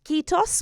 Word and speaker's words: kiitos: of this interview, and I hope I'm gonna pronounce it correctly in saying kiitos, which is the word for thank you.